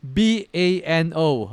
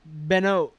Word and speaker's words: Bano: Bano or you suck you suck at something b a n o are you going to write it down here